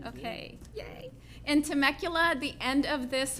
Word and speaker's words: Temecula: In Temecula at the end of this month.